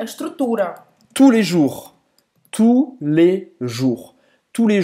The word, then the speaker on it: tous les jours: Tous les jours. Presta atenção aqui, que nenhum S é pronunciado, tá?